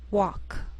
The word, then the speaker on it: walk: sheal it wheel Veil sometimes L can be silent so you have to be careful the first five words listed below are very common so let's take the time to make sure that you're pronouncing them correctly listen and repeat after me talk walk could should